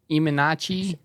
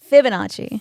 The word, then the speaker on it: Fibonacci: The Liminaci sequence, or how do you pronounce it? Iminachi? Fibonacci.